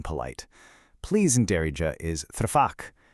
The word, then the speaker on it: tfaddal: Please in Darija is tfaddal. Now, that three sound at the beginning, it comes from the back of your throat. It's almost like a soft little gulp.